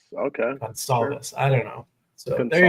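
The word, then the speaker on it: Goncalves: Last name Gonsalves. Gonsalves. Okay. Gonsalves.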